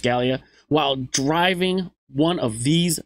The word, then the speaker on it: Gallia: Rest assured, you will be ready for any racing challenge across Gallia, pronounced Gallia, while driving one of these vessels.